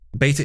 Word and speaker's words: beta: Beta is the American pronunciation. The beta. English pronunciation should be beta.